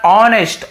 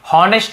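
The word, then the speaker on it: honest: ईमानदार ऑनेस्ट, ऑनेस्ट एच यहाँ पे साइलेंट होता है, लेकिन लिखेंगे जरूर भाई, लिखना जरूरी है, लेकिन बोलते समय ऑनेस्ट बोलना है, हॉनेस्ट नहीं बोलना है।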